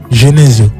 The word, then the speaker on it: Genezio: On dit on dit comment on prononce ton ton nom ? Genésio. Genésio. Genésio. Ouais. C'est quoi ? Pourquoi tu fais tu le gagnèse ? Genèse Genèse Genés. Genèse Genésio. Oui. Genésio Genèseo. Comme les italiens.